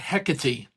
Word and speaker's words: Hecate: I It's just It's an inconsistency because they took the time to say eret. Yeah. But not Hecaty.